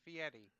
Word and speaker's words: Fieri: fact: his name is pronounced Fieri.